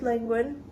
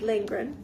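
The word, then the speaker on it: Lindgren: is uh the Thompson it's retold by astd lingin lingren um sorry astd lingren I don't know why I mispronounced that but I did and it is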